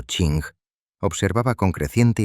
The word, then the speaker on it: Qing: El antiguo imperio chino, gobernado por la majestuosa e inmensamente poderosa dinastía Qing, pronunciado Ching, observaba con creciente y genuino terror el veloz surgimiento de este amenazante estado paralelo.